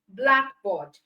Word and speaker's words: blackboard: Unlike the first part, which is a noun, okay, because it's a noun, the stress is on the first part. Okay, so we have sunglass, blackboard, but for the verb, the stress is on the second part.